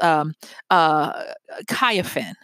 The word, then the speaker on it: Cynefin: And the name is Kyefin, and it's spelled C-Y-N-E-F-I-N.